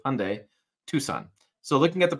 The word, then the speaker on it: Hyundai: it escape the Hyundai so I say it like Sunday Hyundai Tucson so looking at